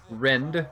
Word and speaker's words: Rend: it go look up renditions on youtube specifically rend r-e-n-d issues it's like that that's definitely how he likes it pronounced just gotta you gotta look at that